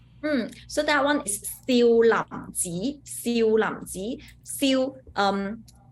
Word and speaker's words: Siu Lam: Now, usually in America, when we say Shaolin, which is from the Mandarin pronunciation, but in Cantonese, it would be a little bit different. It would be Siu Lam, and the temple is Ji, right? Siu Lam Ji.